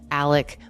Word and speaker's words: Alex: And the father in this family is named Alec Murdaugh, even though the spelling looks like Alex Murdaugh.